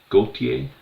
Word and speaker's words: Gauthier: The French pronunciation. Gautier.